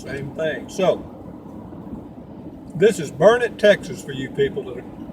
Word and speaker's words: Burnet: And it's spelled B-U-R-N-E-T. Normally you would pronounce that Burnet. However, here, if you go to the Chamber of Commerce, they will tell you that it's Burnet.